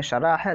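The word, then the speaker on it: شرح: शरा और शरह थोड़ा सा फ़र्क है, प्रोनाउंसिएशन अच्छे से करेंगे तो, वरना शरा शरा दोनों बोल देते हैं लोग। एक में शरा है, दूसरा शरह।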